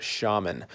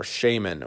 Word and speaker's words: Shaman: looking at the Spyderco shaman or Shaymin or however you want to pronounce it I've heard both ways I'm gonna say shaman